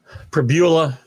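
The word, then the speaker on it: Pribula: Prabula, that's how we say his name, Michael.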